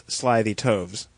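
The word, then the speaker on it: slithy toves: How to pronounce slyytoes? The I in sly is long as in arrive and toes is pronounced as to rhyme with groves.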